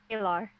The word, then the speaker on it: Aelar: do you say your name so I didn't pronounce it properly lr LR okay name that is not original to